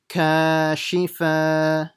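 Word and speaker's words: كاشفة: Ka, shi, kashi. Don't stretch the shi. And this one, fa, will be stretched. Fa, kashifatu, kashifatu.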